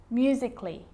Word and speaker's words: musically: Now, the letter A can be silent, especially in words that end in A-L-L-Y, like these. Romantically, musically, logically. So I'm not pronouncing romantically, musically, and logically. Cut the A out. Get rid of it.